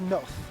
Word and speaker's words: Noth: It would appear it is pronounced just Noth. Noth? Noth. Noth? Something. Not Nothe, though. Noth. I'll go with Noth.